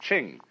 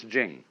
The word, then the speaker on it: Ching: pronounced da and Jing there is no apostrophe after the CH so if there were it would be pronounced Ching but it's Jing like a j and